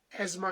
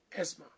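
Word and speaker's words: asthma: दमा दम दमा रोग का दिवस है पूरे वर्ल्ड में और इंग्लिश में इसको एजमा कहते हैं। हिंदी में अस्थमा और हिंदी का अगर अनुवाद किया जाए तो दमा अन्यथा इंग्लिश का प्रोनन्सिएशन है एजमा वर्ल्ड एज्मा डे वर्ल्ड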